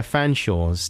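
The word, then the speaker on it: Featherstonehaugh: seen like you know the chumleys and the uh fanshawes didn't you do you remember that dance company the chol mondelez and the featherstone it's like when someone's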